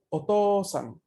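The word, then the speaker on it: お父さん: Mientras que OU se va a pronunciar una O larga. OU es Otosan.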